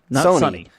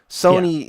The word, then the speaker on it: Sony: And so what we did is we went with Sonny Michel from Georgia. Sonny. Sony. Yeah. So in other words, the TV and a girl. Right. That's how to pronounce his name, we think.